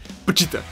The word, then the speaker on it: Pochita: escuchar en el anime como iban a pronunciar pochita es un nombre que no me no me podía imaginar como iba a ser pronunciado en japonés Pero al final me terminó gustando el puchita y hablando de puchita algo